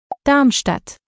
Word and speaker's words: Darmstadt: biggest cities in hissen and here's how you pronounce them mine Wiesbaden kaseer darmstadt of mine